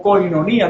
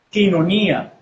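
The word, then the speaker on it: κοινωνία: es un dictongo y no se dice coiné o coinonía, no se pronuncia así. En la fonética se dice quiné. quinonía, ¿okay? Porque es un dictongo lo que hay allí.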